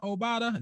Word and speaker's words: Obada: gabe davis right um i go obata obada obata that's how you say his name i go about it